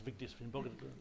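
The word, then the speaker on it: Vigdís Finnbogadóttir: In 1980, in Iceland, you had Vigdis Finnbogadóttir, who I mentioned partly to show off that I can pronounce Vigdis Finnbogadóttir.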